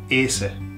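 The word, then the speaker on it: hacer: look at that verb the H is silent so what are you left with Asa yeah where do you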